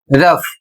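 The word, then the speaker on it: rough: अगला शब्द है आर ओ यू जी एच। इसे पढ़ा जाएगा रफ।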